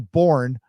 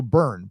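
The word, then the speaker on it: Boerne: you can consider moving to bourne pronounce oh burn burn it also uh the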